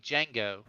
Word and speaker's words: Django: john john's it's like django because the d is silent but the j comes after the apocalypse um there's